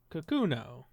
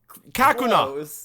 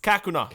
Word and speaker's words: Kakuna: it's a cocoon boy cocono kakuno that's it no Kakuna Kakuna that's the alolan pronunciation kak ah very very